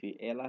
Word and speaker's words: El: Então, vamos saber o significado da palavra Elohim, no hebraico antigo, no paleo-hebraico, porque a raiz da palavra Elohim, ela vem de duas letras em hebraico, que são as letras Aleph e a letra Lamed, que se pronuncia como El.